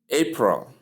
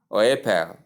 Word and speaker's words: April: April. April. April. April. Two syllables. A and pro. Pro. Not apple or whatever or apel as some people may call it. The R is light in many accent.